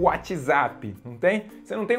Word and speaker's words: WhatsApp: WhatsApp Zap Zap Zap na pronúncia correta é Whatsapp Whatsapp repeat with me